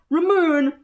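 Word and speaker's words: ラムネ: There's no way to make it pronounced Ramune the way it's spelt in Japanese. It is spelt with a ra, a mu, and a ne.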